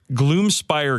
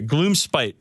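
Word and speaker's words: Gloomspite: don't like doing this too much but the Gloom Spire gits please pronounce glom spite jits jom jom spite is it Spire or spite spite spite okay Gloom spite sorry sorry Gloom Gloom spite GS coming out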